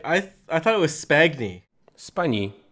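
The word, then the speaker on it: Spagni: thought it was Spagna Spani it's pronounced funny like the GN and lasagna he's Italian you don't say this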